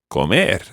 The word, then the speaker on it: comer: Comer. Comer. Okay, when you're saying an infinitive, always trying to put the pronunciation, or the stress rather, on the last syllable.